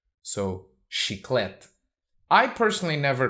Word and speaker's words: Chiclete: brand Chiclets but because though in English CH is usually like cheese in Portuguese CH is always pronounced so she clet I personally never called